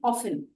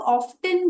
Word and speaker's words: often: वैसे ही OFTEN, ऑफन। ऑफन में हम टी को ड्रॉप कर देते हैं, तो उसका प्रोनाउंसिएशन हुआ ऑफन। अब कुछ लोग ऑफ्टन भी बोलते हैं, और ये UK और US इंग्लिश का फर्क है। आप चाहें तो ऑफ्टन भी बोल सकते हैं।